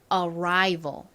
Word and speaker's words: arrival: 난다 이렇게 말씀을 드렸었죠 주로 모음 더하기 아은 단어의 중간이나 끝에 올 경우에는 are 소리가납니다 하지만 단어의 앞쪽에 쓰였을 때에는 항상 소리가 나는 것이 아닙니다 자이 단어의 의미를